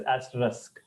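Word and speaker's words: asterisk: one of those symbols the pronunciation of this word incorrectly or how we say or how we have been saying till now is as or as risk but the actual pronunciation is as Rusk as Rusk okay any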